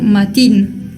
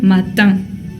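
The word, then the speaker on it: matin: se pronuncia a magazin también la palabra mañana por ejemplo se dice matan mat mañana mat no quiero escuchar maín porque no se pronuncia de esa manera se pronuncia matá bien y y último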